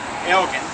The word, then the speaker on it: Elgin: name to the city on the condition that they use the proper pronunciation, which was in Scottish is a hard G. So that's why everybody thinks that we're Elgin, and we're not.